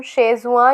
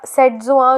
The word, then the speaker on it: Setzuan: इसे हम शेजुआ या सेटजुआ जो भी आप कह सकते हो, दोनों प्रोनाउंसिएशंस इसके करेक्ट हैं।